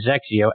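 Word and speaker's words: XXIO: on Cleveland golf and Zek Co xxi o is how you spell that thes xeo brand so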